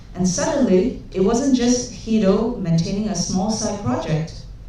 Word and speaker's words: Guido: Let's start from the beginning where Guido van Rossum By the way, his name is pronounced "Guido", not "Quido", not uh "Gwido", not "Gwado".